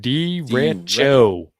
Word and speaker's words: derecho: Derecho. Derecho. Is that a or a ch? It's a ch, because otherwise he'd put a K.